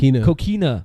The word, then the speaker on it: Coquina: Sin Cara with the Cochina Clutch. Cochina Clutch. Is that how you say it? I think it's Coquina. He said Cochina Clutch. Coquina Clutch. Sucia Clutch. No, the Coquina Clutch. I read it wrong.